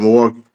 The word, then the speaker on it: Milwaukee: You ever heard of Milwaukee? Yeah. Yeah. That's where I'm from. Milwaukee. Milwaukee. Milwaukee or how the native people called it, Millio. But that's how they say it.